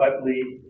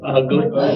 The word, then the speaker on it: Utley: It is Castanos Goodwin Utley Engineering. The two ones that they seem to have problems with is the Castanos Yes. and the Utley. Some people pronounce it with a G. So, Ugly.